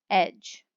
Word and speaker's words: edge: this would be gem remember that the d g e is also pronounced j like gem you might try to